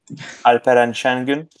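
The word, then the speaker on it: Alperen Şengün: Batu, you want to pronounce the name? Alperen Sengun.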